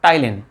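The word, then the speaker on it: ptyalin: तो सही आंसर क्या है हमारे पास, टाइलिन। पी साइलेंट होता है इसमें।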